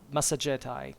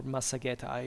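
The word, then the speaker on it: Massagetae: were quote formerly called masetti uh masetti actually or Masti if you want the classical pronunciation u in fact deasus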